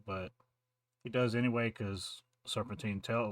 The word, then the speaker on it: Serpentine: Mayu and door with serpentina I think name is serpentina I could be saying it wrong Serpentine serpentina it's Serpentine Julie T Wallace who's the